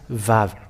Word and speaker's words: vav: But its pronunciation is V. The yod, hey, vav, hey, is read as vav.